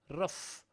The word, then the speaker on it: rough: Rough. OU, how do we pronounce? Uff.